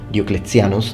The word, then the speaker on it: Diocletianus: Now, after the death of the emperor and his son on campaign in Persia, Diocletianus, or Diocletianus to use ecclesiastical pronunciation, was proclaimed emperor.